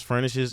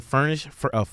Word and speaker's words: furnace: It's furnish? Yeah, furnace. Am I saying it wrong? Furnish? There's Furnace. No way. Yeah, I furnace. put too many S's on it.